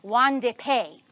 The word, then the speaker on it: Won-Ldy Paye: This one is a story from Africa, from Liberia, and it's told to us by Won-Ldy Paye. I had to look up how to say his name. Won-Ldy Paye.